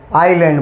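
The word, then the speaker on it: island: ब्रह्मपुत्र नदी पर यहाँ पर एक आइलैंड बनेगा। देखो, आइसलैंड बोलते हैं, एस उसमें साइलेंट रहता है। एस क्या रहता है उसमें? साइलेंट। नाम क्या है? आइलैंड बोलते हैं।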